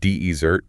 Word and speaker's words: desert: If you place the heavy stress on the first syllable, de ezert, you have created a noun, right?